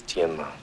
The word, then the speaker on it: Tianma: The correct pronunciation is Tianma. See how it ended up Tin Man.